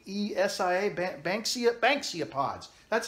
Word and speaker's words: Banksia: a BA in K ESI a Banksy at Banksia pods that's how you pronounce it some gun nut blanks he made